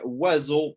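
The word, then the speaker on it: Oiseau: I would pronounce it, it's like bird in French, but it's not at all how you write it.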